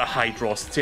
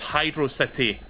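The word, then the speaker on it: Hydrocity: this on stream before but like whenever somebody pronounced the hydrosity and I'm like no it's Hydro City Hydro Space City get it right not the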